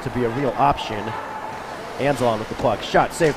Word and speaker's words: Anzalone: I was about to say, going over pronunciations with the Omaha coaching staff, I incorrectly assumed to be Anzalone. He's like, no. Nope. I wrote down my pronunciation correctly, it's Anzalon.